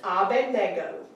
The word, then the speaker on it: Abednego: says Abednego Everybody But says the N, Bendigo. the N is not. yeah, before the D. It's they swap after them. the D. But it's after the D. It's Abedar. Abednego. So the correct pronunciation It's is Abednego. Abed. Nego.